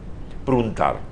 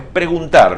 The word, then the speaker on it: preguntar: Pruntar. Lo que yo quiero preguntar es esto. Pruntar no, es preguntar. Lo que yo quiero es preguntar.